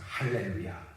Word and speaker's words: 할렐루야: 그래서 라틴어에서는 알렐루야 이 하 발음이 없습니다. 그래서 찬송할 때도 알렐루야라고 하고요. 이 콘스탄티노플을 중심으로 하는 동방교회 여기는 이제 헬라어를 쓰는 지역들이거든요. 이쪽 지역에는 하 발음이 있죠. 그래서 할렐루야 이렇게 찬송을.